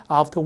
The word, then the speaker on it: after: 그다음 마지막에 after work. 영국식인 거라고 생각한 이유는 이 에 발음이 지금 아가 됐고 알 발음이 안 났고 알 발음이 안 났죠.